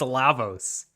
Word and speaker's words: Lavos: It's Lavos.